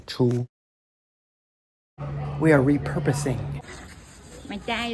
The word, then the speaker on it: 初: First tone, chou.